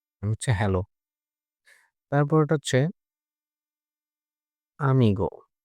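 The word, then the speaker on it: amigo: হচ্ছে হ্যালো তারপরেরটা হচ্ছে আমিগো এটা আমিগো নট এমিগো এটা হচ্ছে আমিগো মানে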